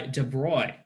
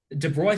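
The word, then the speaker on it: de Broglie: application was made by Dubrow who was this I suppose name it's not pronounced like this it's a French name de Blois found that all matter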